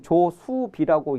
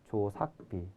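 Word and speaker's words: 鳥數飛: 이것은 조수비라고 읽지 않고 조삭비라고 읽습니다. 조삭비.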